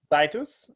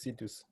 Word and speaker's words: Citus: uh scitus uh alicia my pronunciation titus right oh it's situs hello i that doesn't